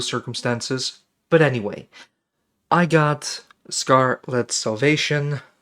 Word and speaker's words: Scar-Lead Salvation: But anyway, I got Scarlet Salvation, pronouncing it weird because it says Scar-Led instead of Scarlet, from a publisher called ID Factory International through Keymailer.